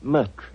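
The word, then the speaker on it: Moriarty: Doctor uh my name my name is mtry oh indeed spelled m u r t r y no dear me I have so much trouble with my name people will either misspell it or mispronounce it I'm afraid I'll have to begin calling it the way it looks m o r i a r t y mariati mariati I shall remember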